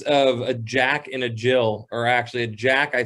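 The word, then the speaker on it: gill: a quarter quarter pint uh known as a jill looks like it looks like gil but it's pronounced jill is that's what i've carlin has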